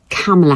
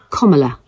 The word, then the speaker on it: Kamala: not it is not camela Harris it is not Kamala Harris it is KLA Harris according to her own Memoir in 2019 name